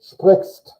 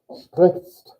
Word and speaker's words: sprichst: That's 5 consonants and 1 vowel in 1 syllable. Sprichst. Sprichst. And not to mention the R and the I sound, it's a lot to get in there.